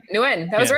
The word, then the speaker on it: Nguyen: How do you say it again? Nguyen or is it Yeah, Nguyen? that was right. Nguyen.